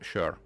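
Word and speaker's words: sör: the o and but but it's pronounced sure and he was like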